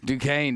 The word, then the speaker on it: Duquesne: Duquesne. How do you say that? Duquesne? Duquesne.